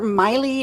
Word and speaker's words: Maile: well my name is Maile my Lee is pronounced like smiley without the S just in case you